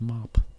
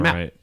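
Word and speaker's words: MAAP: I always thought it was pronounced mop. I did too, but I looked it up and everybody's been saying Matt, right? Second A is silent.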